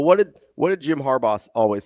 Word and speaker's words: Harbaugh: Harbaugh. Okay, thank you. I thought like you said something different. What did you think? I say Harba. Oh, no. Harbaugh. Like the gummy.